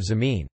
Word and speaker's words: zameen: instead of phal, and between J and Z in Fiji Hindi land is jameen instead of zameen.